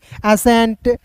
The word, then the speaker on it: ascent: ठीक है, जैसे दोस्त यहाँ पे देखिए ASCENT, एसेंट।